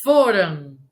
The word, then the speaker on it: foram: Aí a sílaba tônica aqui é na penúltima, ou seja, foram. Não é foram, é foram.